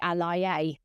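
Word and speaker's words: aláyé: l a ye and I never knew how to pronounce it for quite a while but it's actually alia um in Yoruba they say alia um but it's a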